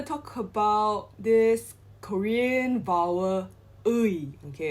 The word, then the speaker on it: 의: we're going to talk about this korean vowel ui okay it's pronounced as ui as in uh however this only changes whenever